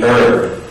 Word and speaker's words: herb: But these are among the few words in English that have a silent H sound. Most H's in English are pronounced, but in these words, you don't pronounce the H.